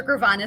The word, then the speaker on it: Gravanis: and foremost let's jump in how do i pronounce the the so full name is gravana so gravanas is my maiden name and then when we